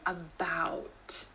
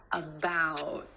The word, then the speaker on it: about: Instead of that true T at the end, most Americans are going to hold that T, about. My tongue tip goes to the ridge behind my teeth and just stays there.